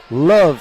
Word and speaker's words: LOVB: future of the sport introducing lb Houston love Houston with a silent B one of the six